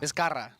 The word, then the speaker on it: Vizcarra: You were rolling your R's better in the... Vizcarra.